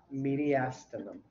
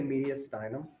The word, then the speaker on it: mediastinum: it up here now here's how we pronounce it mediastinum mediastinum some people still say mediastinum meet right and so